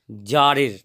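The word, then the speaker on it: tsar: to certain হঠাৎ করে জারের এই যে টি এস এ আর এখানে কিন্তু টি টা সাইলেন্ট এর উচ্চারণ হচ্ছে জার এবং জারের হচ্ছে জারটা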